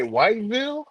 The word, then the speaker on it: Whiteville: Did you say Whiteville? Oh, my bad, Mr. Charles. I said it wrong. It's Whiteville.